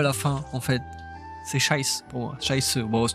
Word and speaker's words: Scheiße: Je le prononce pas à l'allemande, hein. Je le prononce à la mosellan alsacien.